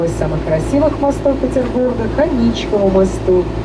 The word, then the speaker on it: Аничков: самых красивых мостов Петербурга никому мосту именно с таким ударением на второй слог название его произносится к женскому имени Анечка не имеет никакого отношения мост получает название по